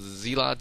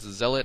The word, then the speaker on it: Zealot: special announcement is uh someone said that I should pronounce zelot Zealot and he was getting